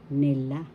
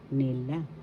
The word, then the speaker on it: nila: means a while ago nila nila first syllable second syllable la the accent is in the second syllable la so you pronounce it or nila This means they nila